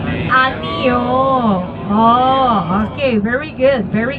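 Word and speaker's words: 아니요: say no in Korean once again ano oh okay can you remember Ne ano.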